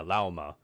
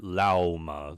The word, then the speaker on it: Lauma: Yeah, Lauma. Think of the animal name llama, but just call it Lauma. There's a U there.